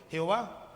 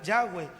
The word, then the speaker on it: Yahweh: con las consonantes y salió el término Jehová. Pero en realidad se menciona Yahweh, es una respiración, y decían los judíos